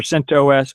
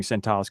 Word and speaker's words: CentOS: And it's either CentOS or CentOS. I like saying CentOS because it's just one less whatever syllable. Cents instead of CentOS anyway.